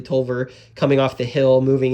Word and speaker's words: Taliaferro: and you can see tolver now I'm saying it correctly tolver coming off the hill